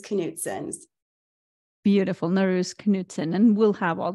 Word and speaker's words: Norouz: asked you before the podcast started no worries no ruse knutsons beautiful nurse Knutson and we'll have all the show notes